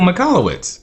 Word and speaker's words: Michalowicz: Michael Michalowicz. Yes. Yep, and I'm glad you pronounced that correctly, because I would have butchered that name.